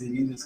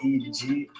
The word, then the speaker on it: Egidijus: My name is Egidijus. It's Egidijus.